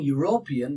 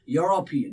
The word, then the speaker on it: European: Now, do you say European? If you're saying European, that's wrong pronunciation. It's European. He's European. Look at that. Yo. The first initial here is yo.